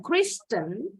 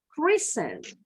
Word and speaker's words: christen: Next, sama akhirannya STEN, T-nya silent. Jadi bacanya bukan Kristen, tapi Christen.